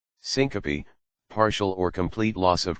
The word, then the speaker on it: Syncope: is referred to as Syncopy or in non-medical quarters fainting Syncopy accounts for one in every 30 visits to an emergency room it is pronounced synop Syncopy is due to